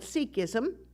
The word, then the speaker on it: Sikhism: seeks yes yes the the spiritual tradition is called sikhism that is the correct way to say it and those who practice